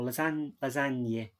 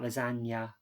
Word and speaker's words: lasagne: Or lasagne, not lasagna. So is it lasagna? Plural, so lasagne.